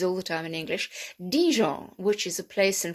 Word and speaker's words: Dijon: we we use all the time in english dijon which is a place in france and also